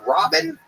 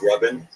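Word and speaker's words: Rabin: Is it Robin? It's pronounced Rubin. Rubin? But it's spelled R-A-B-I-N? Yeah. So it's spelled Raven. No, the A makes the same sound as the first syllable in amazing.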